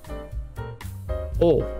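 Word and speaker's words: を: O. Now remember, this is W-O, but it's... For now, for you, it's O. Just pronounce it as O.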